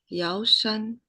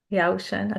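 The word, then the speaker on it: 药山: Could somebody say how to pronounce that master name? Yeah. Sure. 石头西迁. Shichian. Thank you. And Yao Shan? Yao Shan. Yao Shan.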